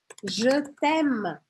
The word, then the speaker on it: Je t'aime: pronuncie também, por exemplo, jetem, errado. J, j. Porque eu praticamente não vou pronunciar esse e aqui. Lembra que e no final das palavras eu não vou pronunciar?